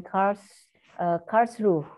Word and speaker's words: Karlsruhe: And last not but least, we have KIT, located in Karlsruhe. Is that correct? Very correct. My pronunciation, okay.